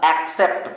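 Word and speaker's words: accept: पी टी पहले सी को का दूसरे सी एक्सेप्ट पढ़ेंगे एक्सेप्ट हो गया क्लियर मजा आया लेते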